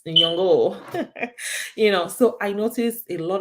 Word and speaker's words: Nyong'o: My Kenyan friend taught me how to pronounce her surname. It's Nyong'o, right? It's not Nyong'o. It's Nyong'o.